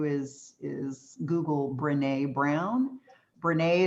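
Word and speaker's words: Brené: is google brene brown brene is spelled just like renee um brown and uh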